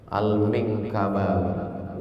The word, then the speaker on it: Al-Minangkabawi: Gimana cara membacanya? Al-Minangkabawi.